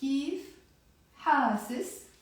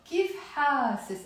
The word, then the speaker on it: كيف حاسس: So, كيف حاسس. I said حاسس, but you can also pronounce كيف حاسس with the A sound.